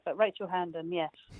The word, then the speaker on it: Hearnden: or is it rachel herndon and did i say it right i was supposed to ask you that before we started but you actually got it right not many people get it right but rachel handen yes